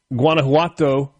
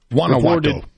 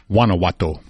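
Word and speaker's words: Guanajuato: Authorities in Halisco, Mishokan, and Guanauato. Guanowato. I'm sorry. Wanowatau. We're not pronouncing G's anymore. You don't with that one.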